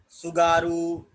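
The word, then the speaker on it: Tsugaru: तो सोचने वाली बात है कि जब टी लगा हुआ है तो साइलेंट क्यों है। हर जगह सुनामी, सुसीमा, सुगारू है ना, तो हर जगह जब यस के पहले टी लगता है तो उसको साइलेंट काहे कर देते हैं।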